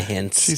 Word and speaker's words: Heinz: it's not on a hint she says I'll also awkwardly say that my last name is pronounced more like hints than the ketchup but no worries it